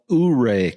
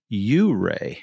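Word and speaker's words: Ouray: can see my hat it it looks like it's spelled uray Colorado but I found out when I got here that they actually pronounce it you Ray oh you say fancy know why I'm like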